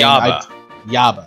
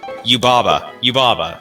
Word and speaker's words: Yubaba: Yaba. Okay. Y-A-B-A? It's Yubaba. Yeah, sorry.